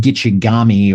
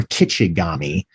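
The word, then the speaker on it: Gitche Gumee: vision, this interpretation of Gitchigumi, the big one. Yes, and that term means big seawater. Yeah. And although the original language would probably have pronounced it Gitchigami or Kitchigami. Mm-hmm.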